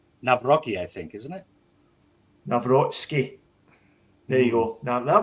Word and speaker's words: Nawrocki: Now, in terms of the Polish centre half, Narovsky, I think I've got that pronunciation right. Is that right, Gav? Nawrocki, I think, isn't it? Nawrocki.